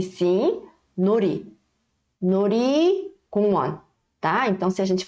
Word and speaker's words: 놀이공원: 놀이공원. 놀이공원. Professora, aqui não tem dir batim, não? Por que você não pronunciou com som de L, de lata?